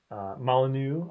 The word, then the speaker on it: Molyneux: It's Molyneux. I'm sorry, Peter. Molyneux, I think that's it.